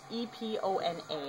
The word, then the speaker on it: Epona: It's E-P-O-N-A, and I don't know exactly how you pronounce it, but Epona sounds right to me, so that's how I'm going to say it.